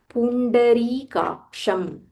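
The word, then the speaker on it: पुण्डरीकाक्षम्: Yat bhaktiya yat bhaktiya Pundarikaksham Pundarikaksham So here ri dirgha pundari kaksham. This is ksha kaksham.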